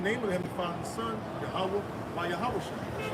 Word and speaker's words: Yahweh: But it's really Yahweh. Right. Right? Yahweh is how you say it.